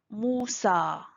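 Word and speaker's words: موسى: Ici, on voit le mot Moussa. Il y a le alif maqsoura à la fin, donc on prononce A.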